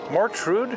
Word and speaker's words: Mortrud: okay that's norwegian yeah see mort's death mortuary mortician and all that surely wounded yeah and rude of course is rude yeah a jackass so